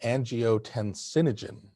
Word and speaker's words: angiotensinogen: One is a gene for something called angiotensinogen. Angiotensinogen, a 7-syllable word.